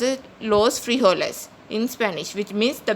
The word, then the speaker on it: frijoles: Guys, remember J is pronounced as hota in Spanish, so it is pronounced as los frijoles in Spanish, which means the beans.